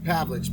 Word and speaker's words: Pavlich: But basically, how do you say your last name? Pavlich. Pavlich.